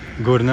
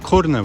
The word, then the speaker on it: Qurna: They write it Qurna with ka sound, but they usually pronounce it Qurna, at least locally here.